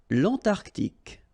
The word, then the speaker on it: Antarctique: Remember, Q-U-E here, it's K. Okay, so tic.